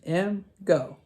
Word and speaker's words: Imgo: It's spelled exactly how you pronounce it. Imgo.